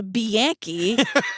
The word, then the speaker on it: Bianchi: And then meanwhile, we meet his cousin, Kenny Alicio, who everyone calls Bianchi. How do you say it? It's Bianchi. It's Bianchi. That's how you said Yeah, it. Bianchi, exactly.